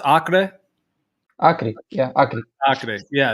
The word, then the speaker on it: Acre: I mean, you don't have to tell me exactly, obviously, but because how's it pronounced? Acre.